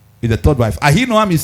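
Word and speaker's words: Ahinoam: Ah noam is the third wife. Ah noam is spelled as a h i n o a m.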